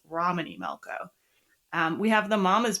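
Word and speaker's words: Romany Malco: Like, we're recording in two sessions, and I accidentally pronounced his name incorrectly last time, so it's Romany Melco.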